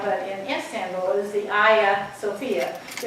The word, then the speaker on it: Hagia Sophia: in Istanbul is the Hagia Sophia. So if you see it written out, you think it says Hagia, H-A-G-I-A, but it's the Hagia, that's how they pronounce it.